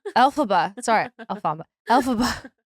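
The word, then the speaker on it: Elphaba: the witch yeah what's Alaba alphaba sorry Alaba alphaba you put the wrong emphasis on the wrong you guys I'm also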